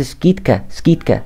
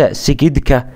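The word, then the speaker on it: скидка: يقول لك انا عايز سكيت كات فين السكيتكا بتاعتي ها فين الاسكيتا سكيتكا وليس سكيدكا يبقى تنطق ايه اللي هي خصم تمام طيب دي تاني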